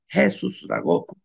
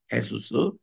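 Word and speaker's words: Jesús: 그리고 예수스 할 때에 JESUS 이렇게 써놓고 발음은 헤수스라고 발음을 합니다. 헤수스.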